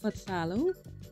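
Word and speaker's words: phthalo: it's called facalo blue it's spelled p-h-t-h-a-l-o so i think that's fatallo bloop number 451 and this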